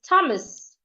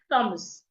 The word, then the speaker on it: Thomas: Another word is Thomas. The H is silent.